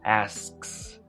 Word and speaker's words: asks: Por ejemplo, he asks. Ese sonido de K lo puedes omitir y la palabra ask suena tal cual como ass.